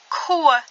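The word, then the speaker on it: ខួរ: Ensuite, nous avons koe. Koe, ça veut dire le cerveau. Ici, le ro ne se prononce pas.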